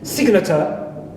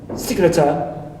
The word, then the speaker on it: signature: why it is but be careful if this G is followed by suffix it's not omitted it is kept like in signature signature so here I have G